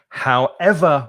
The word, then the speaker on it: however: And when we do that, we don't stress the first syllable, as I said at the beginning. We stress the second syllable. So instead of saying, however, you could say, however will you manage to live on such a small salary?